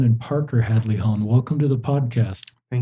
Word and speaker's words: Hadley-Hone: Um Alex Hadley Hone and Parker Hadley Hone, welcome to the podcast.